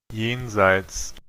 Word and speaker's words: jenseits: Entonces, nuevamente, nótese cómo eso nos indica un sonido de una I, jenseits, pero para variar, esto suena como yin, yin.